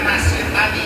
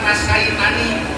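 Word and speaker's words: نسيتني: Jadi bacanya nasitani, bukan nasaitani.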